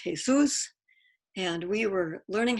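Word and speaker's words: Jesús: And the guy that's facing us directly, his name is spelled just like Jesus, but it's pronounced Jesus.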